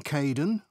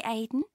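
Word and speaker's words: Kaeden: six hello Charlotte I'm Kaden one of the supervisors welcome to the team hi Aiden uh it's Kaden I'm so sorry oh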